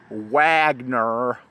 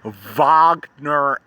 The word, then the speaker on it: Wagner: vogner here's vogner Avenue even though people say Wagner Wagner no it's vogner Avenue how do you say it again it's German pronounced Goethe that's how you say it why